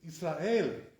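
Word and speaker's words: ישראל: How do they say Israel? They say Israel, Israel. But this is not correct, right? Israel. That's the correct way to say it, So a person shouldn't make that mistake, because under the Aleph there's a tzeret, 2 dots like this, right?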